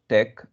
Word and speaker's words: TeX: I'm using latex file though it's written latex we call it as Tech it's pronounced Tech so give any name